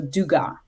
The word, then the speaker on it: Dugas: So duga. Oh okay. Oh. So you don't have an S where often there is and where there is an S you don't pronounce it right I mean